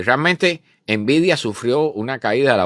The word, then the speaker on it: Nvidia: lo fue no eh envidia que no se escribe como la palabra envidia en español no envidia tiene una n delante envidia y es la firma